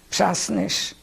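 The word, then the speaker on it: Przasnysz: And how do you spell that? P-R-Z-A-S-N-Y-S-Z, Mszasnysz.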